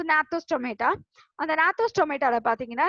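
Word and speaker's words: Gnathostomata: அந்த நாத்தோஸ் G silent ஆக்சுவலா, அதை என் தான் ப்ரொனவுன்ஸ் பண்ணும், நாத்தோன்னு தான் சொல்லுவாங்க. Okay, so நாத்தோஸ் டொமேட்டா.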